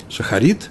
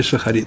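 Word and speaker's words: שחרית: Днем люди молятся в шахрит, шахарит некоторые произносят, в ашкеназские евреи произносят шахрис. Мы будем говорить в сефарском наречии шахарит. Шахрит, потом идет молитва минха,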